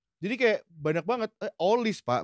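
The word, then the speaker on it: Olise: Eh, olis, Pak. Benar bacanya. Olis. Iya. Olis bacanya. Olis.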